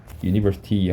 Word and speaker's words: university: university 하면은 발음이 유죠. 유. 그러니까 얘는 스펠링은 모음이더라도 앞에다 관사가 어가 붙는 겁니다. 언이 아니라 university 하면은 유로 발음되니까 어가 붙는다.